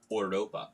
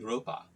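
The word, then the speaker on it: Europa: So Gatsby went off to war in Ouropa. Oi Boy Ouropa, it's how you say it in German, just FYI.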